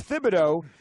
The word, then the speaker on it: Thibodeau: fibbin oh he says Thibodeaux is shortened to Tibbs because in French you typically don't pronounce the H but then why isn't